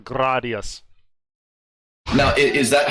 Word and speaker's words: Gradius: fight about this uh is it pronounced gradius gradius gradius your thoughts it's gradius there's no there's no contest it's gradius I go by Japanese phonetics when I pronounce it but uh I think the chat will back me up it's 100% gradius now is that how